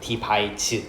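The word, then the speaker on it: devise: 어 발음은 바이즈라고 해요. 디바이즈 동사예요.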